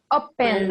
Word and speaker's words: opened: We say Opened. Opened. one more time. How do we say open? Opened. Opened. Remember, we don't pronounce the E.